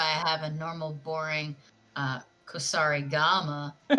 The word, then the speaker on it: Kusarigama: See, that's why I have a normal, boring Kusari Gama.